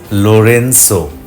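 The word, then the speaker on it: Lorenzo: নামের প্রথম অংশে জি উচ্চারণটা এস, লোরেন্সো।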